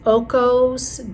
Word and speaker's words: Ocos: If I say it right, it's Ocos Geode.